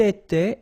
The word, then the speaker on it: était: Il était, elle était, final T not pronounced.